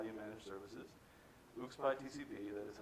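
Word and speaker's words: ucspi-tcp: And the first few things that were already covered immediately were daemon tools, his worldview about how you manage services, UXPy TCP, that is how you pronounce it, the thing that provides an INetD-like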